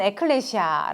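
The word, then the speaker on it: ἐκκλησία: 연속을 해서 나오게 되잖아요 이걸 이제 읽으면 에클레시아 라고 읽을 수가 있겠구요 이거는 영어가 아닌 헬라어 라고 하는 언어의 요 한국 말로 해석을 하면 뜻은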